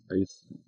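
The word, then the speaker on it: εἰς: Ice is another key word. You're going to encounter that, I think, in verse 5. And it's pronounced ice, even though it's spelled E-I-S.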